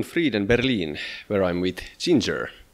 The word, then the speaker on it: Jinjer: berlin where i'm with ginger or guinere how do you say it we say ginger ginger okay great so you